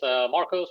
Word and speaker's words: Marcos: Oh, hey, Marco. Yeah, actually, it's Marcos, but I answer to Marcos, Marcus, Mark.